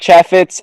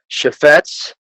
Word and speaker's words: Chaffetz: We got Jack Cheffetz and Brian Suh. It's pronounced Chaffetz, and it's Suh, like Suh, dude.